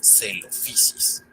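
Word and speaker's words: Coelophysis: Por ejemplo, PH se pronuncia como una F suave. Ahora, combinemos lo aprendido con este género. Ahora sabemos que se pronuncia celofisis.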